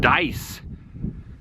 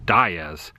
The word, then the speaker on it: Dyess: back at the Welcome Center I asked the pronunciation it was told dice originally I had guessed daya's but dice is what they stated here's the water tower